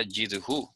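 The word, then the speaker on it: ידחו: Se pronuncia yidhu.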